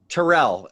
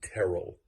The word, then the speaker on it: Terrell: is wrong it's carol my name is pronounced terrell like terrible without the bee okay speaking of the